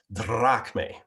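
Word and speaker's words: δραχμή: So I've got English letters, but they're arranged in such a way that I get a sense of the Greek pronunciation, drachme. They also roll the R.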